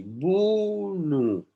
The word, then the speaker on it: Bunu: Porque lo escuché que se pronuncia así. Bunu.